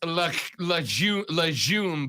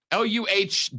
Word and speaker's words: legume: Texter says it's legume, by the way. LUH-JHOOM. Legume. Yeah, but we just, we looked up a pronunciation guide and it said legume.